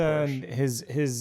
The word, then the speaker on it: Porsche: There's no E on the end of it for Lyle. No. He's American. He's upper crust, but he's still American. So he Yeah, says his it Porsche.